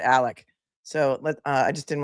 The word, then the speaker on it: Alex: His name is spelled Alex A L E X, but he pronounces it Alec.